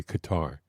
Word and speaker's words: Qatar: I think they pronounce it by the way Qatar. I I heard uh one of That's what I've always said Qatar. You said cutter and so I hear cut I hear cutter all the time.